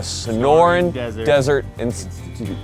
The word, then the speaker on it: Sonoran Desert Institute: The Sonoran Desert Institute.